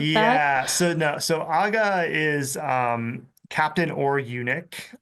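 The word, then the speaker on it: ağa: So, aa is um captain or unic. Um the a with a yumushake silent.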